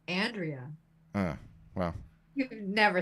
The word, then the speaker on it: Andrea: It's Andrea.